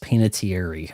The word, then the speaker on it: Panettiere: Hayden Panettiere. It might actually be pronounced Panettiere, I think she said once.